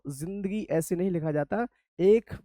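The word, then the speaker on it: ज़िंदगी: इसे बोलते हैं जिंदगी। राइट? और Z से बनने का कारण ही इसका यही है। जिंदगी की स्पेलिंग दे से स्टार्ट नहीं है। जेड से स्टार्ट है। जे से स्टार्ट नहीं है। किससे है? Z से।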